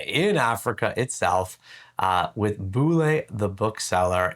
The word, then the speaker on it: Bulle: His name is spelled B U L L E but it's pronounced Boule. He said like bullet with no T.